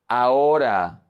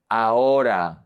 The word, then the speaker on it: ahora: The H is always silent in Spanish. You never pronounce it. It's invisible. It's like you don't see it. For example, hoy, hoy, today. Ahora. This is a very common mistake.